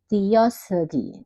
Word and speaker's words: 띄어쓰기: 띄어쓰기, 띄어쓰기. Dibaca i ya 여러분.